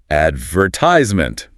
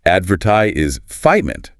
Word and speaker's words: advertisement: An American speaker will say, advertisement. The stress is on the third syllable, fightize. A British or Australian speaker is more likely to say, advertise is fightment. The stress is on the second syllable, vert.